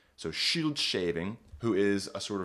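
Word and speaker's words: Scyld: Shield is how this word is pronounced.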